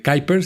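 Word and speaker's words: Kuiper: el proyecto este de Kyer se escribe Quiiper, que seguramente lo han escuchado.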